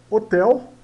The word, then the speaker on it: hotel: d é d eh Hotel né Hotel Hotel né ah esse H aqui na frente no início das palavras ele ele tem o som do R português então Hotel né e o o